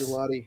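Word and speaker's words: Gillotte: This Louisville edge guy that the Chiefs took, how do you say his last name? Is Gelati? Yes. Gelati, yep. Italian ice with frozen yogurt on it.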